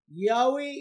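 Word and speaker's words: Yahweh: nag research balik nag yahwe is the reconstructed pronunciation of the hebrew name yhwh also known as tetragram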